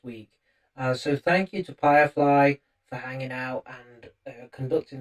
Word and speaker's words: Pyrefly: where you can find them under Firefly Official. So once again, that's spelled Pyrefly.